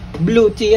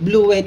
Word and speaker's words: Bluetti: s wave naman to kasi blue te yan e yung iba nagco-comment blue wy daw talaga ah yung blue te po na pronunciation pumunta po ako sa website ng blue tea blue w Puntahan